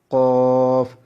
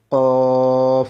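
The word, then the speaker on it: ق: বরাবর উপরে তালুর সঙ্গে লাগিয়ে দুই নক্তা ওয়ালা কফ জিহ্বার গোড়াটা উপরের তালুর সঙ্গে টক্কর দিবে কফ এভাবে উচ্চারণ হবে কফ এভাবে পাঁচ নাম্বার মাখরা জিহ্বার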